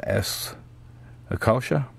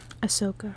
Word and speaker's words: Ahsoka: This is was S. Akasha, number 3. Did I say it right? Well, how'd you say it? Ahsoka. Ahsoka, okay.